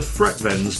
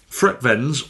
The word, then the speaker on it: FREKVENS: going to call them FREKVENS because that is how ignorant English people probably say stuff, by how they're spelt.